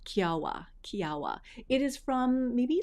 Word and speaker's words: Kiowa: So The first one that I want to share with you guys is this one that is called Kiawah. Kiawah.